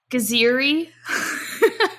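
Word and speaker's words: Geziri: And Gaziri.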